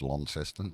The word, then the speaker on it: Launceston: Yeah, it's pronounced Launceston.